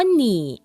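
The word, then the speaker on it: 你: คือ ไม่ ต้อง ทอน หนี อยู่ หลิง เฉียน มา หนี อยู่ หลิง เฉียน มา หนี โย หลิง เฉียน มา คุณ มี เงิน เศษ ไย คำ ว่า หนี่ ใน ประโยค นี้ ออก เสียง ว่า หนี แปล ว่า เธอ คุณ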